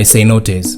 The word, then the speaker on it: cenote: One of the best things about living in Tulum is being able to visit the many nearby cenotes. And if you haven't been to a cenote yet, you're missing out.